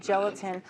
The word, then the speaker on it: gelatin: can use instead of gelatin. Oh, and do you know why gelatin rhymes with skeleton?